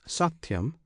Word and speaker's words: Satyam: This Satyam consists of 3 syllables. One syllable is Sa, another Ti, the third Yam.